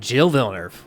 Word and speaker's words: Gilles Villeneuve: Gilles Villeneuve. We're going with it. We're rocking with that pronunciation.